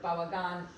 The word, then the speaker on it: bałagan: But your use of bałagan, how do you say it? Bałagan. Polish is Bałagan penultimate is syllable probably pronunciation.